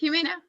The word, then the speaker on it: Jimena: Zamena's connecting. Hi, Zamena. Hello, Vikram. Am I pronouncing it properly? Yeah, it's Jimena. Very good.